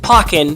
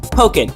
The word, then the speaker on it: Pokkén: I know it's technically pronounced Pokkén, but I'm not calling it Pokkén. It's pronounced Pokkén. Because it's like Tekken and Pokemon.